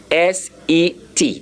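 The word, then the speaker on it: sept: please don't say except the P there is silent so our seven which is said is spelled as s e p t and the pronunciation is a s e t that's how you pronounce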